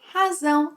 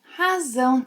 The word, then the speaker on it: razão: meanings of the word razão in Portuguese. But first, be careful with pronunciation. You need to make a strong Z sound, as in zebra, and not an S sound.